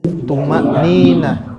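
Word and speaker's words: tuma'ninah: Tumanina. Pakai ain atau hamzah? Hamzah. Pakai to atau ta? To. Tumanina.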